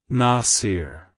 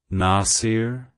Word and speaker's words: Nasir: supporter it's pronounced as Nasir Nasir Nasir to pronounce it correctly emphasize the first syllable n ah and then smoothly transition into the second syllable SE like Hello nasier